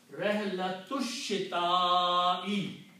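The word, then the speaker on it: رحلة الشتاء: So you do not pronounce this alif. And when you don't pronounce this alif, you take the harakat on alif and change with a small swad, which means don't pronounce it. Hamzatul wasl. So the word now becomes Rihlatush Shita'i.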